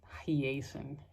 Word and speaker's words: Hiaasen: Hyacinth. Is that how you pronounce his name? It is Hiaasen.